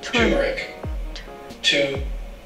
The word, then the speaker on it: turmeric: This is how you pronounce it. Turmeric.